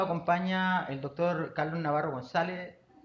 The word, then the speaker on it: González: Así que en la sesión de hoy nos acompaña el doctor Carlos Navarro González. González, estoy pronunciando como chileno, olvidando tu apellido. Después lo oirás tú como se se dice en Madrid.